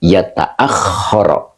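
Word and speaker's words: يَتَأَخَّرَ: Maka dibacanya yata'akhkhara. Ya. Yata'akhkhara.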